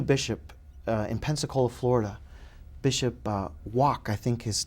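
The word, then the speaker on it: Wack: in Pensacola Florida Bishop walk I think his name is pronounced it looked like it's spelled like whack but uh he said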